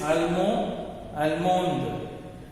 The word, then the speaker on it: allemand: So when I pronounce, I should not pronounce this D. Okay. No need to pronounce the D when I say. So Allemand, Allemande.